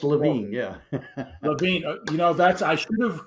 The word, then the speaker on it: Levine: Actually, it's Levine, but I'm so glad to be here. It's Levine.